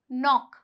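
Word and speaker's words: knock: जाएगा चुप हो जाएगा कैसे वर्ड्स देखिए इसे के एन ओ सी के ये क्या हुआ नॉक यानी कि खटखटाना नॉक तो इसे नॉक नहीं बोलते हैं यहां पे जो के है वो साइलेंट है ये क्या कहलाएगा नॉक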